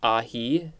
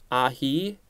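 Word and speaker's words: ají: ahi a j i i think it's ahi this is a noun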